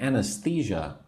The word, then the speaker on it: anesthesia: So maybe the doctor will give me anesthesia so that I do not feel pain. I will not feel anything, right? I will not feel the pain. Anesthesia. 4 syllables.